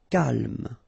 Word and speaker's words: calme: Calme. So don't insist on the final E.